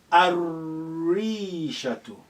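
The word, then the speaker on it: الريشة: Next, Rishatun, and that is sun letter, the Ra. Ar-Rishatu. Shadda is required now because the sun letter comes after so we say Ar-Rishatu. Ar-Rishatu.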